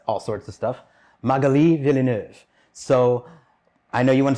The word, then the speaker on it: Villeneuve: get the first name right last name is villeneuve villeneuve okay well i swear the guys in the